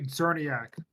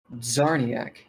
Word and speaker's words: Czerniak: It's Tony Czerniak. You'll see when I spell it. Czerniak. CZNER, or it's CZERNIAK. Get it right.